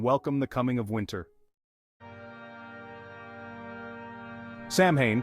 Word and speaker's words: Samhain: the coming of winter Sam Hayne pronounced sawin was the most important